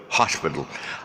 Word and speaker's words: hospital: pronounced in malay so in malay hospital the stresses on the stretches on the horse hospital they were pronounced